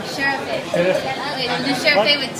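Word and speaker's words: şerefe: How do you say cheers in Turkish? Normally, when the people drink raki, Raki. alcohol, Yeah. they make sherefe. Sherife.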